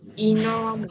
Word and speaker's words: enormous: Từ này các bạn để ý nha, cái từ này nó sẽ nhấn trọng âm ở âm thứ hai. Enormous. Enormous. Âm y đầu mình sẽ đọc nhẹ nhàng. Y. Enormous. Đây, nó nhấn âm thứ hai nha các bạn.